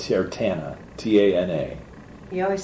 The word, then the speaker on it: Tana: Her name is Tana. Tana.